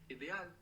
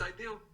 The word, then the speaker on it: ideal: you say ideal so really think about how it's spelled and try and pronounce each of those vowels as they are written I like Inc e Like Elephant a like apple IDE good ideal how would you say